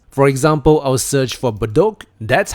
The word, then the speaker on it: Bedok: If you want to allow your customers to search for your other locations, for example, I'll search for Bedok. That's how we pronounce it and the area coverage, I'll put it as 1 km and I search for it.